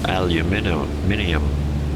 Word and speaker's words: aluminium: Or aluminium, whichever you prefer, however you prefer to pronounce it.